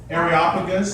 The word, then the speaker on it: Areopagus: Areopagus.